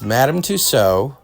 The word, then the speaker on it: Madame Tussauds: It's Madame Tussauds.